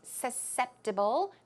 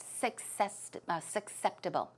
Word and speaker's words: susceptible: susceptible to getting sick the pronunciation is susceptible not successful susceptible susceptible okay so if you say